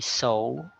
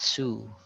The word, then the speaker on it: sew: Then we have the sew. It's meaning it's to sew something like a sewing machine to patch up something. So it's not sue.